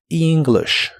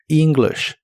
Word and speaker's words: English: La e se pronuncia como una i larga o doble, y la i se pronuncia como una i corta. English. English.